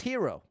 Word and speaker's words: gyro: similar to a bagel gyro is pronounced hero oh yeah that makes